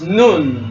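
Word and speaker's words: נון: a relationship and then the third one is noon like Noon Saloon regular form noon fire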